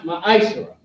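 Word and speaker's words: מעשר: You can find this in Numbers 18:21 and Malachi 3 and 8 to 10, which means 10th in the Hebrew and is pronounced ma'ashra.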